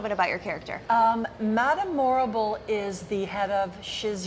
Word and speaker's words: Morrible: she played the role of Madame Morrible which we just said rhymes with horrible horrible or adorable or adorable I love that as